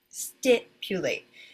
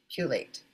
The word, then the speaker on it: stipulate: Okay, this is the first syllable. Sti. That is the stressed syllable. So it will have this sound. Stipulate.